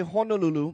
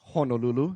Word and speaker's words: Honolulu: today so as much as we all say Honolulu by the way the proper pronunciation is Honolulu so let's all try